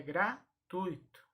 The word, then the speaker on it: gratuito: Da mesma forma, a palavra gratuito e não gratuito, igual se fala. A pronúncia correta é gratuito. Ok? Trata-se de uma palavra paroxítona.